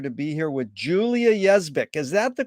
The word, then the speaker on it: Yezbick: be here with julia yes vic is that the correct way to pronounce it julia yes yeah it's phonetic like it looks it's pronounced like it looks pretty confusing thank you